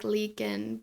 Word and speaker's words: Leakin Park: So he pulled over on the side of the road by Leakin Park. I always want to say Lincoln Park. It's not Lincoln, it's Leakin.